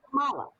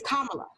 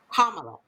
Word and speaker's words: Kamala: But it's not Kamala. It's Kamala. Kamala. Kamala. So think of a punctuation mark, a comma, and then put la on the end. Kamala.